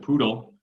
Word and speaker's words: PDAL: Apparently they pronounce it poodle, which was news to me. So I don't know. I don't know that we need to adopt that, but their package is called PDAL. They named it intentionally to rhyme with GDAL.